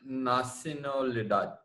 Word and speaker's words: nacionalidad: here, there is no A that is pronounced like English. So it is always A. So nacionalidad rather than nacional. Oh, Nacio.